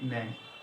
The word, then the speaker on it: Menk: তো চ্যানেলের নামটা হচ্ছে মুফতি ম্যাং, MUFTI, মুফতি MENK, মুফতি ম্যাং। ওনার প্রোনাউন্সিয়েশন বলেন, অ্যাকসেন্ট বলেন, everything is awesome.